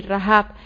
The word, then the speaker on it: Rahab: así reid hey ivette ok rap que se pronuncia así rajab con la letra g y la de en